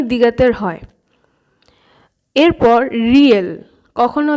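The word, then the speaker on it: 리을: দ্বিগত কখনো ধ, কখনো ধ, আবার কখনো ত, দ, এই চারটি উচ্চারণই দ্বিগতের হয়। এরপর রিয়েল, কখনো ল কখনো র, এই দুটো উচ্চারণই হয়।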